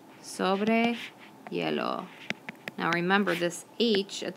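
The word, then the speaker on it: hielo: going skating on ice you would say sobre yellow sobre yellow now remember this each at the beginning of yellow is silent ok so there we've learned the difference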